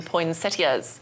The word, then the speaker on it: poinsettias: magical Christmas decor, including poinsettias. Or is it poinsettias? How do you say it? The way you did it the first time is perfect.